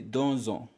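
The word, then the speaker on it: deux ans: you'll find for example do ends with x but because it comes before on which begins the vowel then you say donzo and so on and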